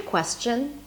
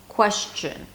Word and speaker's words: question: a sh sound, like question, question. That's also okay, but I would focus on the accurate pronunciation with a s sound, question.